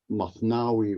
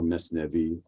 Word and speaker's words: Mathnawi: The Mathnawi or Mesnevi, depends on your pronunciation, which is his 6-volume work, the most important work, is called the second Quran in Farsi.